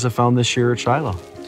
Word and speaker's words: Shiloh: found this year at Shiloh it's been a good season I absolutely love being at this site here in Shiloh or as the proper pronunciation is Shilo and Shiloh is used